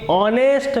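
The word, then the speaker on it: honest: Note कर लीजिए आप, यदि ए साइलेंट होता है तो आर्टिकल एन का यूज़ किया जाता है। बोले क्यों? जरा पढ़िए इसको, क्या पढ़ेंगे? Mohan is ऑनेस्ट मैन, A silent है, ऑनेस्ट, ऑनेस्ट आ रहा, ठीक है ना, ए आ रहा है, इसमें बोलने में स्वर आ रहा है, इसलिए यहाँ पर किसका प्रयोग करेंगे हम?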